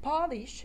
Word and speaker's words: polish: polish or polish it's no secret that polish is a verb we have a sound like in father and it means to make a surface shine always i love the